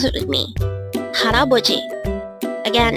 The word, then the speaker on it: 할아버지: Haraboji. Haraboji. This is pronounced as a 4-syllable word.